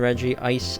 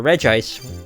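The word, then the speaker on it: Regice: of fire place the regie ice on or reg ice however you want to pronounce it on the pedestal there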